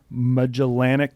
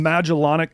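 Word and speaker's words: Magellanic: Like you can see the Andromeda galaxy, the large and small melanic clouds. Holy that sounds sick. Wait, I I definitely pronounced it wrong, but it's named after Mellin for some reason.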